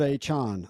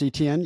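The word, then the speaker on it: Etienne: his name isn't pronounced ETN yesterday? Watch. What did he say it was pronounced? He says it's just like achan.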